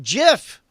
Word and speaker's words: GIF: guy who wrote a gif here sis you pronounce it jiff oh oh well then I'll bet you who